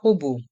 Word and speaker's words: robot: Le robot pâtissier. Le robot pâtissier. Dans le mot robot, le T est muet.